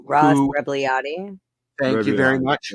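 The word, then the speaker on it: Rebagliati: I can't pronounce his name. Ross Rebliati.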